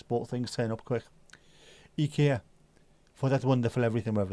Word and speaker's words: IKEA: IKEA, which is how it's pronounced as well. IKEA. Not IKEA, it's IKEA. It's amazing, isn't it?